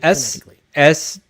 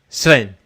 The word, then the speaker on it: Sven: Is it SWVAN or something SWEN? Oh, Sven.